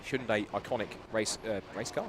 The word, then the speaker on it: Hyundai: Hundai iconic race uh race car safety car and just a bit of a spite here.